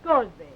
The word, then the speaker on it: Scoresby: Lady, Henrietta Scoresby. One of the few English names that's pronounced as it is spelled.